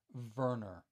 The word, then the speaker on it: Werner: all done by R Werner pronounced "Verner" i guess you could say it's WERNER who was the engraver